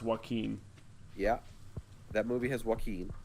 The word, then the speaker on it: Joaquin: His name is pronounced Joaquin.